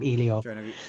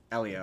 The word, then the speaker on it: Elio: I I'm going to call him I'm gonna call him Ilio. Uh Elio. Which one was that? It's Elio. That's the sea monster one. No, it's pronounced Elio.